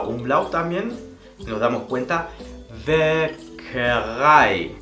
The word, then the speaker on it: Bäckerei: en una misma palabra, esto se va a pronunciar como ai. Por ejemplo, klein, pequeño, klein. También hace que este sonido largo, klein, der Wein, el vino, der Wein, die Bäckerei, la panadería.